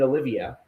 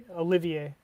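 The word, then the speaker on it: Olivea: So, you had uh uh McNeel Dilman Hardwick and Shane Olivia. Olivier. Yeah, Olivier. Sorry. Whatever. I'm going to mispronounce the name.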